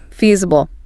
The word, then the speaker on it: feasible: And remember the pronunciation for that professional sound feal that long e feasible noted.